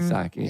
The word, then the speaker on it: Psaki: I mean, I love Jen Psaki. You know, anybody with a silent P, especially with she should open the sushi place, right?